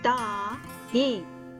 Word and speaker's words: दाएं: For right direction in Hindi, we say दाएं. We pronounce it da-ain.